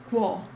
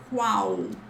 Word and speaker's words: qual: This is not qual, it's qual, okay? Qual, but faster, qual.